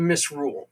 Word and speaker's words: misrule: Many religions appointed the lord of misrule, a temporary ruler of chaos. Uh the pronunciation is misrule.